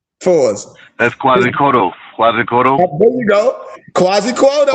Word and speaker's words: Quetzalcoatl: Let's see if Noble Moso can get that pronunciation for us. That's Quetzalcoatl.